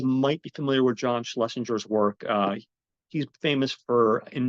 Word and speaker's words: Schlesinger: Schlesinger, I probably mispronounced that. I feel like when you say his last name, you almost kind of have to slur it. It's like Schlesinger.